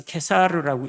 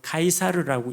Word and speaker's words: 카이사르: 자, 시저라는 발음을 이제 읽기에 따라서 케사르라고 읽기도 하고 카이사르라고 읽기도 합니다.